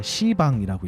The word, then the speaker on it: 시방: 그래서 불교 용어로 그 열방향 다시 얘기해서 우주의 공간을 설명할 때는 10가지니까 10방이라고 돼야 되는데 발음이 힘드니까 시방이라고 읽어요. 네, 들어보셨나요?